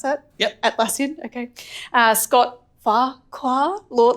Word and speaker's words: Atlassian: million from atlassian founder is that how you pronounce that yep atlassian okay uh Scott Fara Lord like Lord Fara